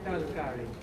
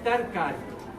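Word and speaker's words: तरकारी: Talkari. No, that is a modern pronunciation of it. The actual word came from tarkari.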